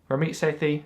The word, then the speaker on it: Ramit Sethi: And I found that a personal finance guru, Ramit Sethi, Ramit Sethi, I believe is how you pronounce it, he actually has a virtual team, right?